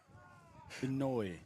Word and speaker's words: Inouye: So the starting pitcher from Roosters, his name is actually pronounced Stitch up. Inouye. Inouye. Inouye.